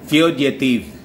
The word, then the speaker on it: fugitive: Ang tunog niyan dapat div. Pero ang basa ko talaga niyan, mga kababayan, is the old pronunciation niyan na natutunan ko. Narinig ko lang doon sa teacher kong abogado. Fugitive. Pero chineko, hindi pala tiv. At dapat tunog niya, fugitive.